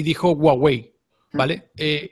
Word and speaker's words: Huawei: cámaras dices dices gua yo digo Huawei porque una vez le escuchado un chino hablar y dijo Huawei vale eh Y después